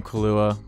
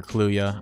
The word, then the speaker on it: Kaluuya: super talented um Daniel Kalua awesome is all or kaluya I've been saying it wrong the whole movie he's awesome as always